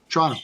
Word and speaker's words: Toronto: It's really a one-syllable word. Toronto. When you're from Toronto, you say Toronto.